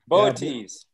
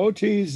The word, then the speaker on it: Boötes: Wednesday we have, I assume it's pronounced Boötes, B-O-O-T. Oh, good luck on that one. Boötes. Yeah, Boötes, the herdsman, will be high in the south after sunset, anchored by the bright star Arcturus.